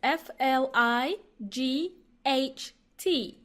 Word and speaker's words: flight: is a noun and it is spelt as f Li gh T so many silent letters in this one so many silent letters yeah I think you pronounce three of those and then you just add random one city flight okay according